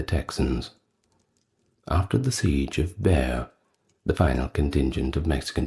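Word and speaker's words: Bexar: I believe the Spanish pronounce it as Bay or bear, something along those lines.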